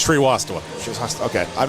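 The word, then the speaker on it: Srivastava: I've wrote it phonetically. Tree Wastava. You're very close. There we go. How close am I? very very close. It's Shri Wasta.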